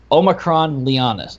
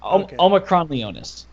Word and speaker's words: Omicron Leonis: hold on, I want to make sure I pronounce this right. It's Omicron Leonis. Leonis. There we go. Leonis. Omicron Leonis.